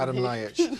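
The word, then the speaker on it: Adam Ljajić: Delio Rossi, the man everyone remembers as the guy who hit the Fiorentina player, Adam do you pronounce it for me? Adam Ljajic.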